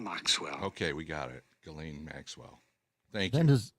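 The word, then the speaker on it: Ghislaine: name more than anything which is of French origin and in French it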